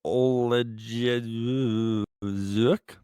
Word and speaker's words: Oleksiejczuk: Now, also in the early prelims, we have Michelle Pereira taking on Mikhail Oleksiejczuk. Yeah, you nailed that. Yeah, I think that was exactly how you pronounce it.